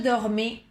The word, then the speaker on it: dormais: Avant, je dormais très bien. Recordar que la A y la I dan el sonido E, como la E en castellano.